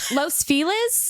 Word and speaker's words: Los Feliz: saying Los Feliz? What is it? Los Feel is? Feel is, like Felix with a Z.